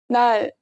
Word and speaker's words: 날: When it's placed at the bottom, you can say it like you'd say L in English, but make sure your tongue touches the roof of your mouth. Here's an example. 날, 날.